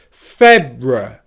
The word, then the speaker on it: February: The key here, which is one reason why you might find this word difficult, is the R sound. Don't let the tip of your tongue touch the roof of your mouth for the R sound. Instead, if I say it really slowly, February, February, I'm pulling my tongue down and back in my mouth to make sure that the tip of the tongue doesn't touch the roof of the mouth.